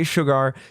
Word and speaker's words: Shergar: Just know that indie boy is trying to say Shergar, and that's how it's said.